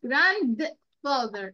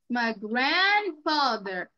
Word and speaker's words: grandfather: حبايبي ما اسمهاش جراند فاذر، الدي سايلنت ما بنطقهاش. ماي جراند فاذر، ماي جراند فاذر از.